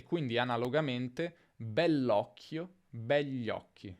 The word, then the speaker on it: begli occhi: Nella pronuncia è più comune dire begli occhi, gli occhi, senza dire quella I praticamente.